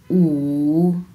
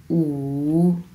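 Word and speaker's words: 五: 5 আমরা কিভাবে উচ্চারণ করব উ, উ, উ। এটা হচ্ছে 3 নাম্বার টোন। সো অবশ্যই আপনার উচ্চারণের সময় ঢেউ খেলাতে হবে উচ্চারণের মধ্যে উ, উ।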